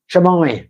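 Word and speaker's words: siomai: She's more a shamal kind of girl. Have I said that right? What? How do you say it? Shamai.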